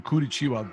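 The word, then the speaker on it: Curitiba: so they were doing is was born in kurichiwa did I pronounce that right guys yeah perfect perfect he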